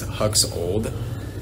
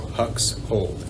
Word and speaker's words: Huxhold: an interesting last name everyone always thinks it's hux old and i'm like no dude it's like hux like hux and then like you're holding something so hux hold that's how it's like pronounced my name is